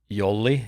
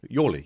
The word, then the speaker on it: Jolly: so silly his name his name is Yoli it's spelled Jolly um uh Yoli yeah yeah and um